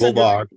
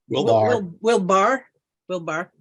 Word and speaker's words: Wilbar: we've gotten um David chickett Wilbur who writes will Barr will Barr I've been it's been mispronounced my entire life well keep correct correct